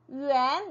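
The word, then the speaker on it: 元: 일단 소수점 이상 왠지 수학으로 치면 자연수일 텐데 어쨌든 네, 그것을 읽을 때 우리가 yuan, 네, yuan이라고 읽어줄 수 있고요.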